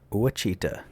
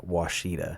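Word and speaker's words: Ouachita: Uita, it's Washittita, which is another indicator that this is an AI voice, but it could just be someone who doesn't know how to pronounce it, but it's Yeah. Washida have long been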